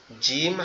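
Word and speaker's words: ج: শক্ত আওয়াজে পড়তে হবে জিম জিম এভাবে আর জিমটা আমরা কেমনে চিনবো অনেকটা কাঁচির মত দেখতে তার পেটে পেটের মধ্যে কি আছে?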